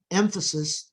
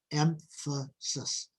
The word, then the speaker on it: emphasis: the word emphasis notice emphasis the stress is on the first syllable emphasis and notice emphasis if